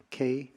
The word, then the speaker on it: Keir: Last name is Keir, Kear.